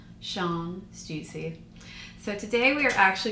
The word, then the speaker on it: Stüssy: Shawn's last name is pronounced Shawn Stüssy.